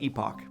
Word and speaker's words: epoch: I would pronounce that ee-pok, but an ee-pok livestream doesn't make sense when you say it like that...